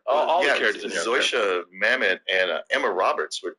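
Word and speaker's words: Zosia: Zoysia Mamet and Emma Roberts were two actresses you've seen in a lot of stuff who don't barely in this movie.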